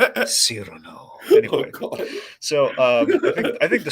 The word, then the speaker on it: Cyrano: Cyrano. Cyrano.